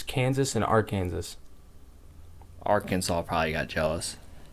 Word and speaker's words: Arkansas: way Arkansas is spelled you don't pronounce the last S I don't like that it's Kansas and AR Kansas Arkansas probably got jealous